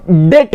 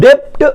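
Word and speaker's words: debt: डिबेंचर is acknowledgement of डेट कहना, डेप्ट मत पढ़ना, क्या है? डेट, बी साइलेंट है।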